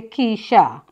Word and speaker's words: Keisha: Keisha, pronounced yes, as it say, Keisha.